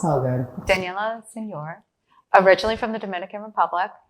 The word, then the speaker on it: Senior: Is it Senior? Say it correctly for me. Wow. It depends, but it's Senor.